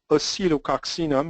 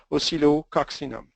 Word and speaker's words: Oscillococcinum: main medicine, which is Oscillococcinum. It's impossible to pronounce, so cut it in 2, Oscillo, and you can even say Oscillo, people will understand. Oscillococcinum.